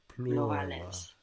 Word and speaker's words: plurale: And the U is like U. Plurales.